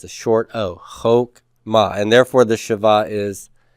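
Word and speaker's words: חָכְמָה: come at Coutu okay it's a short Oh Hoch MA and therefore the Shiva is silent Hoch ma so wisdom and wisdom is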